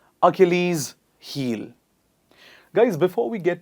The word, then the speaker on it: Achilles: please repeat after me a kill ease please repeat after me once again achilles heel guys before we